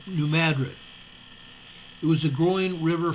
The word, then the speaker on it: New Madrid: in 1803 new mattered it's not clear when the name pronunciation changed from mrid to M New Madrid it was a growing